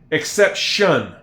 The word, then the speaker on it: exception: Almost like the T is a sh exception. Exception. Exception. It's not except t iio n. It's not except tion. It's exception. Exception.